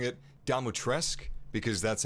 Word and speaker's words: Dimitrescu: that it's pronounced lady dematrice i'm going to be pronouncing it damotresk because that's how ethan in the game pronounces it but apparently uh to romanian people it should be pronounced uh dimitrescu so maybe ethan's getting